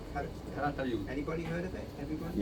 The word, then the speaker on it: Calatayud: Calatayud. Calatayud.